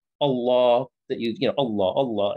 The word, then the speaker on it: Allah: as well uh-huh so if you were just working looking at the word allah on its own is a slightly different sound with a law a law but because the previous word dismiss the is leading into it you say bismillah so because it's starting with the if sound you say but you know on its own it would be a law and there's a slightly different tone to the to the l one is like a